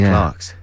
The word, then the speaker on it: Clerks: screening of clerks ii i never know whether to say clerks or clerks well the americans say clerks don't they we say clarks okay well then it's